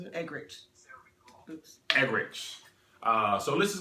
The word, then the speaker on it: Eggerichs: How do you pronounce it? Eggerichs.